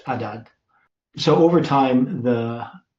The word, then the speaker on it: Adad: So it's Adad. So it just doesn't have the aspiration at the beginning, the ha, the wind, it's just Adad.